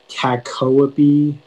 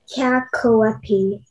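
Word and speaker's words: cacoepy: of the information yeah so it can be pronounced kakawapi kakoapi or kakoa b uh it's a noun and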